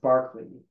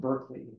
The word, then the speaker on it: Berkeley: Hume right this is this name is pronounced Barkley not Berkeley even though Berkeley California